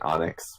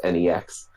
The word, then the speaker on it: NEX: Recently, Steem Monsters is using NEX's node, which I was saying Onyx, but apparently he's pronounced NEX.